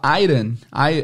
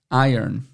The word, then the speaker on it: iron: início a mais tarde fica a dica de pronúncia a gente fala Airon Airon né porque se escreve r o n